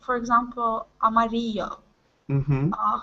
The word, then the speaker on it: amarillo: uruguay mainly and argentina the double l and the y is pronounced similar to the s h sound that we make in english when we say show